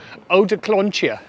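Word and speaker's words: odeklonje: And the Dutch accent changed that into eau de Klontje.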